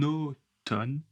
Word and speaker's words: automne: En automne, il pleut souvent. En automne, il pleut souvent. Encore une fois, le N avec le A U. A U c'est O.